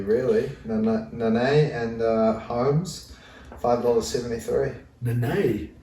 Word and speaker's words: Nene: Nene? I think that's how you say it. It's not Nanai. Definitely not. It's Nana is like the Australian way of saying it, I think.